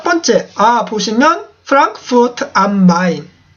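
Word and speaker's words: Frankfurt: 프랑크푸르트라고 하는데 프랑크푸르트 우리나라에는 F 발음이 없기 때문에 그냥 프랑크푸르트 이러는데 F죠? F 발음 해주셔야 돼요. 프랑크푸르트 이라고 하셔야 되고요.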